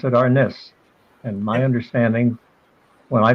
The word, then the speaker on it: arnis: because they don't like your pronunciation of the word arness or arnis or our niz which is another way i've heard about it saying and you know tomato